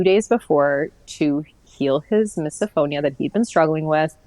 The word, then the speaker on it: misophonia: Yeah, misophonia.